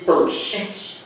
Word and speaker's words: Fertsch: we are here with the one and only Cindy Fertsch. Hi. Did I pronounce that right?